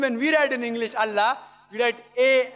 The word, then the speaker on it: Allah: Similarly we know how to pronounce correctly Allah. They say Allah he said no problem. The right pronunciation is Allah.